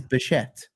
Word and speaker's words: Bichette: It does sound like everybody says bird shit when they do pronounce his name, though. But it is Bichette.